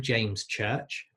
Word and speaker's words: James Church: my name, James Church, the S and the CH of James Church, when I say it, sometimes blends together and I kind of say James Church, and the church sounds like a shirt and it becomes a little bit inaudible to people.